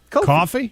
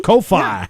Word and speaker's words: Ko-fi: How do you pronounce Coffee. it? Coffee? Coffee? Ko-fi.